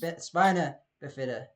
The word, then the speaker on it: spina bifida: Spina bifida.